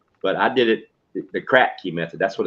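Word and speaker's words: Kratky: I mean, spell that. Crack key. Crack key, KRATKEY, crack key hydroponics.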